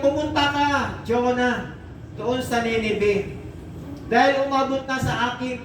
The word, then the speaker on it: Nineveh: At talagang pagkakapronounce nila doon, Nineveh. Parang Nineveh.